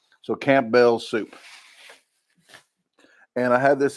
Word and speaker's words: Campbell's: So you need to say Campbell's, not Campbell's, because you're missing some letters there. Campbell's. So Campbell's soup.